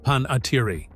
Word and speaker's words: Panettiere: The family pronounced the name Panettiere.